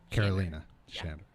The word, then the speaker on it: Karolina Shander: to clarify that and uh her name is Carolina shander right did I pronounce that right shander Carolina Carolina shander yeah good yeah so uh tonight we're gonna